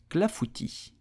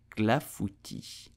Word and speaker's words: clafoutis: So how do you pronounce it in French? You will say clafoutis, clafoutis, clafoutis.